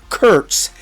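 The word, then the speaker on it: Kurtz: Well, that's actually how the athletics announcers have been told to say his name because it would evoke some potential slur. So yeah, Nick Curts is how we are going to say his name.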